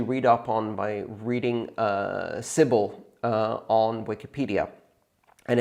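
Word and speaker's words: Sybil: now I'm particularly interested in solutions to the civil attack problem to me it seems like a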